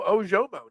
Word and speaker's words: Ojomo: Do I say it right? Moro Ojomo. Is that Ojomo? Um, yeah, you might see a little bit more of Moro Ojomo now.